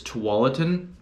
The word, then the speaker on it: Tualatin: of you know something that people tend to mispronounce so for the record it's Tualatin um but even for people here locally in